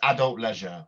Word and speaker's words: Adult Leisure: Leisure or leisure uh it's it's adult Leisure we would pronounce adult Leisure yeah um but yeah